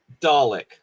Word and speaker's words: Dalek: MC. Dalek or Dalek? Dalek to rhyme Dalek. with garlic, basically. Okay, Dalek.